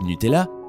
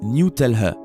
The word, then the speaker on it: Nutella: nutella aux états unis sur la page web nutella il est prononcé newtel à ce qui a rendu les gens dingues sans